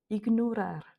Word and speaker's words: ignorar: Et de la même manière avec le mot ignorar. On dit bien igar.